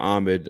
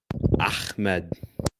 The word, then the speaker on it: Ahmed: So, Ahmed is ha. You're saying ha. These are different letters.